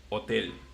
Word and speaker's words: hotel: like hotel, but in Spanish, it's imagine that there is no H, and it will be hotel. So, Oh. Okay. so yeah, we just don't pronounce the H in Spanish.